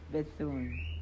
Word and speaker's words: Bethune: McLeod Bethune.